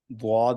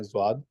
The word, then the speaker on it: ض: भारी तादाद में है वो द्वाद ही पढ़ते हैं, ज़्वाद नहीं पढ़ते।